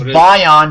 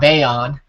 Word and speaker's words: Bayon: did notice is that we've been mispronouncing the Bayan tribe's name wrong it's my on not Bayon uh so I wrote